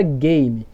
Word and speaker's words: game: E esse E, ele é mudo, porque nós não falamos assim, ó, game.